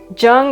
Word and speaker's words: Joong: to be right on jung is actually the cantonese way to pronounce it and it's also known